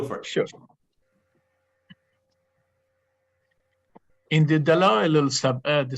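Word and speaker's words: Dalá'il-i-Sab'ih: Dala'il-Sab'a. Can you pronounce this for me, Dr. Vahid? Dala'il-Sab'a.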